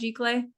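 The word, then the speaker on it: giclée: what you're trying uh g i c l e yeah that one I think I think it's pronounced G clay G guys I don't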